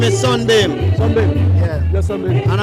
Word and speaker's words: Sonbeam: My name is spelled SONBEAM, so it's Sunbeam, but not with a SUN, it's a SONBEAM.